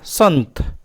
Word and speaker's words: संत: न जैसा उच्चारण हुआ संत इसमें दंत न जैसा उच्चारण हुआ पंप इसमें क्या है